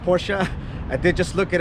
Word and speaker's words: Porsche: right behind me it is a lifted 2008 porsa Cayenne it is pronounced Porsche I did just look it up and of